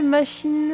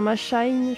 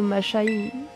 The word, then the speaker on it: Mashynn: êtes inscrite pour affronter machine enfin ma Shine je suppose parce que c'est un gars qui enfin je sais pas comment ça se dit on va être prononcer à la française la championne vous devrait